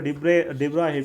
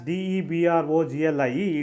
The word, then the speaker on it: de Broglie: If it gets accelerated under a potential difference, according to de Broglie hypothesis, this electron can be thought of as a wave, as a matter wave of this wavelength.